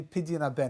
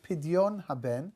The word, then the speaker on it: Pidyon Haben: A natural-born, firstborn boy, then you need to go through something called a pidyon haben.